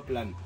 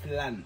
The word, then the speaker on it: flan: FL plan plan no flan flan f f f Fernando Fernando si flan Fernando plan plan o plan sige Oo nga mali kasi mali tayo ng pronounce kasi pronunciation pronunciation kinorek tayo ni Fernando This is pharmacy si